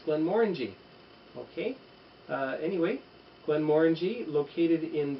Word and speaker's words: Glenmorangie: Now, Glenmorangie, that's the correct pronunciation for the fellow Canadians or Americans watching. Let's avoid saying Glenmorangie or Glenmorangie. It's Glenmorangie.